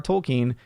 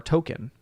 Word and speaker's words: Tolkien: break it to him that is j-r-r tolkien not j-r-r token did i mispronounce it